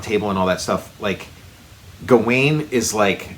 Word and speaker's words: Gawain: So it's whether whichever way you want to hit that W, if you want to give it the sort of V or W. Oh, there's also there's all those there's Gaelic spellings and pronunciations, and then there's Welsh spellings and pronunciations, and I think. At least within the mythology, Sir Gawain. I'll just call him Gawain because that's what I've always called him.